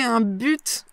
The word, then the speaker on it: but: Donc, j'ai un but, j'ai un objectif. D'accord ? Donc, j'ai un but, j'ai un objectif. Moi, je prononce le T, un but.